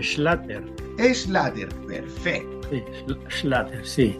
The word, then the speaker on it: Schlatter: que a don Juan Schleder. ¿Cómo está usted, don Juan? Y primero que todo, dígame si está bien la pronunciación del apellido. ¿Schleder? No, tal como se escribe, Schlatter.